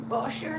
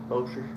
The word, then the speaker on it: Bossier: Bossier City. Bossier. Bossier.